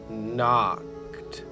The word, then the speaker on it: knocked: house he can knocked the K is silent she's just keeping the end company while he does the talking so it's he knocked on the front door